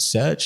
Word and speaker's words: SRJ: the a leagues to uh is it surge is that the correct pronunciation it is yeah surge Sports Investments um yeah look